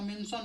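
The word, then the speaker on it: mention: लोग आता है ना, तो मेन प्लस सन क्या हो गया, मेन सन। तो मेन में सन जुड़ गया तो हम लोग का मेंशन हो गया।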